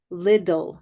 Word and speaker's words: little: the middle l-i-t-t-l-e but in North American English we don't pronounce those t's as T's we pronounce them as Lidl so it looks like